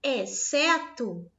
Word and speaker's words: exceto: Exceto, eu não produzo o X e o C, eu produzo apenas o S.